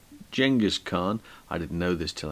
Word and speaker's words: Genghis Khan: picture is Genghis Khan spelled with a G pronounced J Genghis Khan I didn't know this